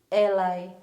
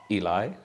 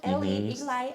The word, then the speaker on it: Eli: they pronouncing your name eli so on on set today i've got eli yes and people are gonna be correcting me uh it's not ellie ali it depends at least early